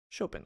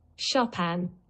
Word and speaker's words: Chopin: How to pronounce Chopin. Chopin. I'm so smart. Chopin.